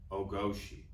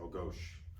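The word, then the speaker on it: O-goshi: in Judo is called oosi right A lot of times on the pronunciation you might hear a real traditionalist drop the I at the end and say ohos okay so but it's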